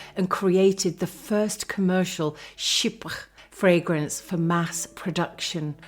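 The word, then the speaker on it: chypre: In 1905, Cody introduced perfume to the masses and created the first commercial ship fragrance for mass production called Lori Jang Doti.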